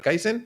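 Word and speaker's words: Kaizen: Entonces dije, "Bueno, pues podcast aprendizaje continuo, lo voy a llamar Kaisen porque además suena guay, es un nombre corto, e es memorable, no pensé que se pronuncia con s y se escribe con Z y luego la gente no se aclara, pero bueno."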